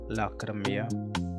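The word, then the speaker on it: Lacrime: my clothing band it's laia laia and people sometimes struggle with the pronunciation because they read it as it's written but it's not like that it's laia l a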